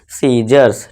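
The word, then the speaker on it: scissors: के बाद सी है, तो यहाँ फिर से सी साइलेंट हो जाएगा और इसे क्या पढ़ेंगे हम, सीजर्स, ठीक है दोस्तों, सीजर्स।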